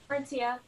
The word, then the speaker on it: Martia: Hey, Marsha Johnson, is that how you say it, or is it Martia Johnson? Martia.